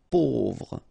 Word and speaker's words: pauvre: A-U together will produce this O sound. Pauvre.